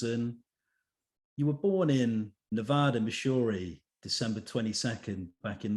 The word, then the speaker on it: Nevada: Well, actually, I spent some time there because it's Nevada, Missouri, because that's down near the Ozarks, and that's just how they say it.